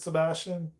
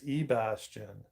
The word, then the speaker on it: Ebastian: Oh, you found it, Sebastian. Ebastian. Um, been saying your name wrong. Hey, Robert. What's good, brother? I thought it said Sebastian, but it's Ebastian.